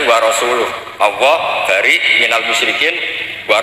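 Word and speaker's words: وَرَسُولُهُ: Allah itu terbebas, gak urusan dengan orang musyrik, wa rasulih juga gak ngurus Rasulnya. Kalau sama Rasul saja tidak ngurus, apalagi sama kita. Terus sama Sayyidina Ali dibenarkan, yang benar bacanya itu wa rasuluh, Allah bari minal musyrikin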